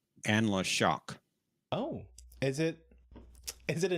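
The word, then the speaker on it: Anla'shok: Actually, it's pronounced Anla Shock.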